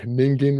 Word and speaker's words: Ningen: I've made a dog Ningen review. Let's emphasize the word Ningen. That's how it's pronounced.